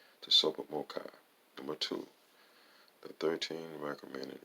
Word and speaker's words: TSOPAHMOCCI: bolts on h m tsopah c c i pronounced the super mocha number two the thirteen recommended reference areas of